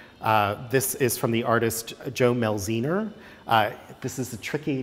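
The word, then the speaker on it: Jo Mielziner: now into production this is from the artist joe mel zener i this is the tricky name to pronounce but it's it's a really important one in the American theatre Joe Mills ii nür was one of the great american scene designers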